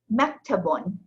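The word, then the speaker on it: مكتبٌ: Mektabun.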